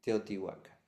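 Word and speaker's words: Teotihuacán: A ver qué qué podríamos buscar como Pero sí, el sexto y séptimo centro lo podemos ubicar en ¿Cómo se pronuncie? Teotuaca. Teotihuaca.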